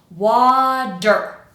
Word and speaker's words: water: Wa, and then quick, der. Water, water, water. Now we're ready to say it a little bit more naturally, and that D sound that I'm kind of exaggerating right now, it's going to go to just a little flap sound, and it's going to be quick.